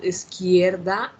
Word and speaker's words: izquierda: So the pronunciation of izquierda, you listen, okay, is izquierda.